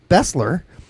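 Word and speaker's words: Besler: feel bad even though his name is correctly pronounced Bessler um based on his ancestry I will go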